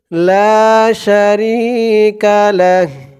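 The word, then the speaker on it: لا شريك له: থামার জন্য চিহ্ন দিয়েছে তো যদি আমরা এখানে থামি তাহলে আমাদের উচ্চারণ করতে হবে লা শারিকালাহ করার কারণে হার উপরে যে উল্টা পেশ আছে এই উল্টা পেশটা সাকিন হয়ে যাবে লাম দিয়ে হা ধরবে এমন উচ্চারণ হবে ওয়াহদাহু লা শারিকালাহ লা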